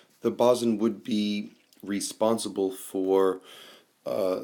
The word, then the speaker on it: boatswain: um it looks like the word boatswain it's pronounced in the text as bazin bosn the boson would be responsible for uh the crew on